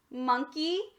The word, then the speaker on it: monkey: between our two consonants first syllable mon second syllable key try for the real word monkey my friends where this o is at that's a schwa it changed from ah to uh moving on is there